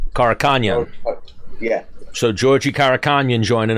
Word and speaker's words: Karakhanyan: How do you pronounce that last name? Karakhanyan. Karakhanyan.